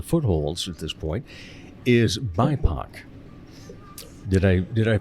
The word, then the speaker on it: BIPOC: And another program that you have that's just kind of in the footholds at this point is BIPOC. Did I pronounce it correctly?